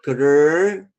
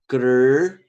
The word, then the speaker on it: Krishna: So this is the T. Okay, the front part of your mouth. You say Krishna. This is how it goes. Krishna.